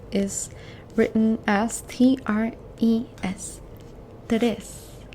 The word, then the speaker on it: tres: The number 3 is written as T-R-E-S. Tres. 3, tres. Tres. Okay? Try and roll that R for me.